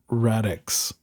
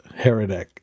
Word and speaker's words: Hradec: So apparently HRADEC, it's Radix instead of Heretic. I've been pronouncing it.